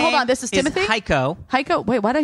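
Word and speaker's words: Heiko: e i k o pronounced like psycho hio spelled like the watch Seiko yeah oh so it's hio hio deise great that's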